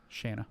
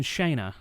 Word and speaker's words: Shanna: is shanna shanna shanna gosh i thought i was saying it right it's okay shanna stoker i was saying shayna yeah and i threw out sean good lord shanna stoker